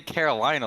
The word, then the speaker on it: Carolina: And then, Bro, why'd you say Carolina like that? Because that's how it's meant to be said, bro. It's a Mexican team.